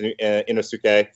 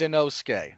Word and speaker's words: Inosuke: him man bear pig it's his name is inosuke mark yes sir it's inosuke i know that look i know that you